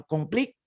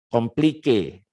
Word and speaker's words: compliqué: Complique. Jadi ada tanda ini ya, apa namanya, tanda apostrofi atau apa namanya ini ya, yang di atas e-nya ini ditekan dia, di stress bacanya, complique.